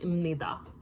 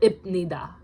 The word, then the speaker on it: 입니다: 입니다 is technically written as this, but it sounds like 입니다. It's not 입니다.